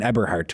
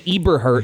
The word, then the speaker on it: Eberhart: Aiden Eberhart, we always got down though. Not Not Yeah, we called him Eberart for like a year and a half, right?